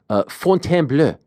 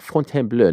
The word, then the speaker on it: Fontainebleau: March 29th on ESPN and ESPN Plus here in the United States from the relatively new Fontainebleau. I always have to say it like that. Fontainebleau, not the Fontainebleau, the Fontainebleau.